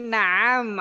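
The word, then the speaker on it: نعم: Di sini naam, ainnya pendek, jadi kita jawabnya naam. Baik.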